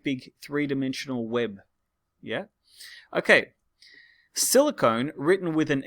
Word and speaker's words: silicon: Silicone, written with an E, not the metal silicon, but silicone. They actually, to be honest, they're both pronounced silicon, but I pronounce it silicone to help you remember.